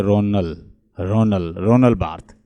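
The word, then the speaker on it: Roland Barthes: जैसे रोनल बार्थ है, French word में अगर जैसे जो लास्ट वर्ड होता है वो अमूमन जो होता है वो प्रोनाउंस नहीं करते, हम इसे रोनल्ड नहीं कहेंगे, इसको कहेंगे रोनल बार्थ।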